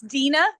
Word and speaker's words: Deanna: name for me it it's Dena spelled like Deanna but it's Dena thank you Dena sorry